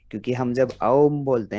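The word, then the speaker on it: ॐ: ओम के उच्चारण में जैसे हर बार हम ध्यान देते हैं कि अ उ और म की तीनों ध्वनियां जो हैं अलग अलग और लगभग बराबर समय के लिए हम कहें, और अपने अंदर ये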